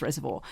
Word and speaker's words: Reservoir: Um I I lived we lived in Reservoir, which some people my mother tries to tell me you pronounce it Reservoir, but if you live in Reservoir, it's Reservoir.